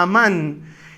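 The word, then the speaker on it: אָמַן: Literalmente emuná viene de una palabra hebrea también que se pronuncia amán y que literalmente significa algo firme o estable en lo que es seguro confiar.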